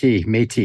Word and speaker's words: Métis: Donavan is a father, husband, proud Red River Métis. Did I say it right? Métis? Métis, yeah.